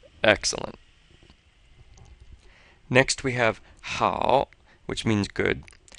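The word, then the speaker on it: 好: how which means good so the H in pinion sounds pretty much like our H but this a and o kind of sounds like ow with this o here being very light which means you shouldn't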